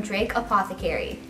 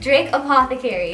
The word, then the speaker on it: Drake Apothecary: Her name is Michelle from Drake Apothecary. Did I say it right? Yeah. Okay, Drake Apothecary.